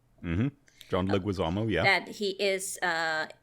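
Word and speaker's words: John Leguizamo: Yeah, she is u Mirael Madrial and you can obviously hear John Leuisamo and that's how it's pronounced. Mhm. John Luisamo.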